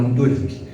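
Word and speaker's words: δύναμις: En el griego la palabra poder es eh se puede leer, se escribe como dunams o se pronuncia como dunamis.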